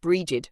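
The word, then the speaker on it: Brigid: Bridg pronounced bridged.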